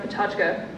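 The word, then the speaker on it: PechaKucha: looks like a pecha Kucha but it's actually pronounced patachka it's a format where they have each Speaker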